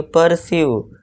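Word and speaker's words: pursue: जब किसी वर्ड के लास्ट में इ यू ई आए तो यू ई का उच्चारण यू से फिर से होगा। यानी लॉन्ग यू होता है। जैसे एग्जांपल देखिए यू ई आ गया तो इसे क्या पढ़ेंगे? पर्स्यू पर्स यानी कि दोस्तों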